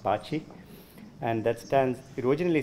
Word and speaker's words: baci: it originally started because BSE I in Italian is pronounced bocce and that stands it